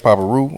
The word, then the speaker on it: Papa Reu: you know what I'm saying that's how you spell it y'all see it it's going down yep yep Chinese podcast Papa Roo I'm down in Houston follow me on p-a-p-a-r-e-u